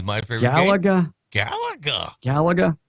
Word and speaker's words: Galaga: On a question of the day, Jeff from the Patch says, how about the game Galaga?